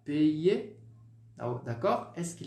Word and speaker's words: payer: Então você vai pronunciar apenas o ezinho, o R, ó, muet, toujours. Todos esses verbos com o sufixo ER, você não os pronuncia. Fica então sempre, por exemplo, manger, parler, étudier, payer, tá bom? Nada de payer, étudier, d'accord?